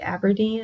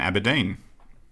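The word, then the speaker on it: Aberdeen: I would say maybe Aberdine is the third City okay well that's good because it rhymes with killer queen which I believe is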